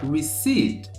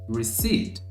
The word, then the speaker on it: receipt: Pensando aqui na forma que a gente fala, né, a nossa pronúncia de forma errônea, a gente acaba falando aí receipt, receipt, colocando esse pezinho também, obviamente, porque tem na palavra a forma que a gente escreve, então a gente acaba